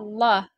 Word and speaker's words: Allah: sini ada lafaz Allah lafaz Allahnya harus dibaca tebal dengan pookalannya Allah e bunyinya O ya oke illa Masya Allah